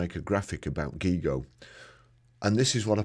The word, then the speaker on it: GIGO: How to pronounce it. Gigo rhymes with ego.